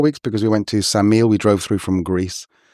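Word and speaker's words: Ksamil: Yeah, maybe maybe 3 weeks or four weeks because we went to Samile. We drove through from Greece and we came up to Samile first, which is spelled K S A M I L.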